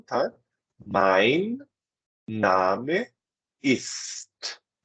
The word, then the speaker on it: Name: Mein Name ist. Cuidado que não é name, é Name, ok?